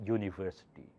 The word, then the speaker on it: university: surprisingly it's not a vowel because starts with Y sound so you say a university it should be it's